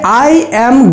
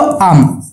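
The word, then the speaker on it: I'm: সবসময় এটাকে উচ্চারণ করবা কি বলতো? আম, ঠিক আছে। কি উচ্চারণ করবো? বাংলায় যদি আমি এটা লিখি না তাহলে আম, ঠিক আছে, মানে ম্যাঙ্গো।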